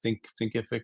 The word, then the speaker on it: Thinkific: I'm going to go use Kajabi or Teachable or Thinkific. Thinkific is how you say it.